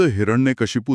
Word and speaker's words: हिरण्यकशिपु: मूल संस्कृत शब्द हिरण्यकशिपु था, जिसका मतलब है सोने के बिछौने वाला। लेकिन आम आदमी के लिए ये उच्चारण थोड़ा कठिन था।